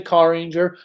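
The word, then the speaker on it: Carranger: you have to say car ranger even though it's spelled with one a you have to pronounce it as if it has like 15 a's in it um anything pretty much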